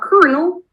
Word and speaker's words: colonel: So the thing is that kernel, that's pronounced as kernel with the R sound in between.